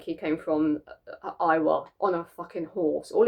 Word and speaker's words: Iowa: Iowa. Yeah, Iowa? Is that how you pronounce his hometown?